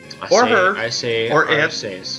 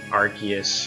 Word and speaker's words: Arceus: That's how I say his name, people. Arceus. Or they. I don't say Arceus or Arceus or whatever.